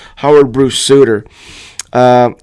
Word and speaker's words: Sutter: u tt R but it is definitely pronounced sudor so it's Howard Bruce suder uh not a good